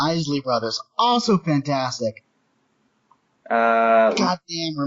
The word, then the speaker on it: Isley Brothers: Is it the Isley or Isley Brothers? I never learned how to pronounce it. Isley Brothers.